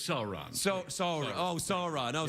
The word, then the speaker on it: Sauron: so wherever you pronounce it how do you pronounce it it's sauron so sorry oh sorry no sorry i'm sorry